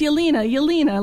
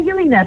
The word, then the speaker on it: Yelyna: And I'm sorry, I keep saying Yelyna. It's Yelyna. Let me drill that through my head. Yelyna, yeah. Like Selena, Yelyna. People call me Yel because they can't really say my name, but it's Yelyna. Yelyna, that's perfect. Yelyna like Selena.